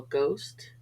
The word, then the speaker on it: ghost: drought daughter and light H is often silent after G for example ghost aghast ghetto H is usually silent